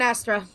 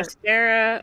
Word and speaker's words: Astera: Yep, we're in Astra. Astera? Whatever. Astera, okay. You have pronounced so many things so oddly to me.